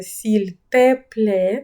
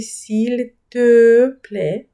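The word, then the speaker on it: s'il te plaît: не як мед, український звук, а, тому не говоріть, будь ласка, сіль тепле - це ріже вухо. Правильно вимовляти сіль пле, якщо ви звертаєтесь до людини на ти.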